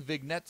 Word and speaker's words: vignette: dynamism that offers affecting vignettes. Wow, how many fucking thesauruses did you guys pull Vignettes. out? Vignette, really? Yeah, you don't pronounce the G in the...